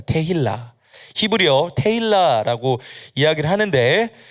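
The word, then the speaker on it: תהילה: 또 다른 이제 발음으로는 이제 테필라라고도 이야기하기도 하고 이제 테힐라라고 말합니다. 테힐라.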